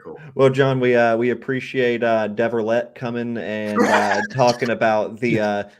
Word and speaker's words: Devialet: What's the correct pronunciation of Devialet? Devialet.